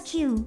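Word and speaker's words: 九: In Japanese, the number "9" is pronounced as "Kyuu," which sounds like the word for "old."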